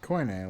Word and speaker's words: coine: Koine, like the Greek in the Bible.